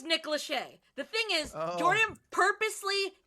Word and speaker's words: Lachey: Also yesterday, I fucking said Nick Lassie. Lassie? What'd you say? Nick So Lachey. Jordan- Lachey? No, I know it's Nick Lachey.